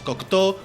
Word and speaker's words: Kokuto: espadas que básicamente serían las kokuto o mejor pronunciado en japonés las cocto o en español las